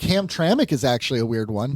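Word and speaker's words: Hamtramck: Like, think about But think about how Ham Tramic is spelled. H A M. There's no T R A M C. There's no A there.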